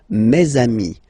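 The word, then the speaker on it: mes amis: Ami okay and then let's be purist and make this beautiful Le between these two words mesami Mei all right so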